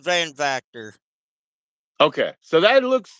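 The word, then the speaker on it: Van Vacter: that's fine that's my shot right there it's pronounced vanor okay so that looks like Dutch it is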